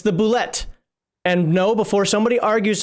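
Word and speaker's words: bulette: that's exactly what it is yep it's the bullet and no before somebody argues with me and says it's pronounced boule you it is not how do you get boulet out of this and the first [ __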